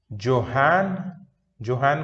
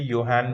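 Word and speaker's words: Johann: Please सारे scientists के, जोहान को कभी कभी योहान भी बोलता है, किसी वर्ल्ड के किसी किसी कंट्रीज में जोहान का प्रोनाउंसिएशन योहान भी होता है। ठीक है, सो जे साइलेंट रहता है, या जे को वाई की तरह प्रोनाउंस करता है।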